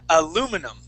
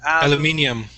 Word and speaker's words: aluminum: how how could we say that how would Americans say that word aluminum yeah well we would actually say aluminum aluminum there you go yeah so in other places they would say alum uh aluminium yeah aluminium aluminium yeah aluminium but uh yeah